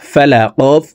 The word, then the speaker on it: فلق: ফা জবর ফা, লাম জবর লা, ফালা কফ জির কি, ফালাকি। কফকে ওয়াকফের ক্ষেত্রে সাকিন করে ফেলবো। কফ যেহেতু কলকলার হরফ, উপরের দিকে ধাবিত করে ধাক্কা দিয়ে উচ্চারণ করব।